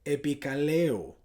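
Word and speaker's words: ἐπικαλέω: Esa palabra invocaré en el griego se dice o se puede pronunciar epikaleo, que la definición es poner un nombre, un apellido, permitirse llevar un apellido.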